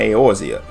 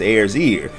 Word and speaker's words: Eorzea: decided to come to eorzea a place he mispronounces as air's ear which now that i say it out loud isn't really that far off he went straight to